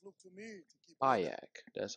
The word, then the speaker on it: Bayek: Bayek, that's how you pronounce his number.